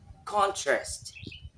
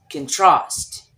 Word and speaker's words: contrast: into noun and verb the first example is contrast when it's noun contrast and when it's verb trust say it with me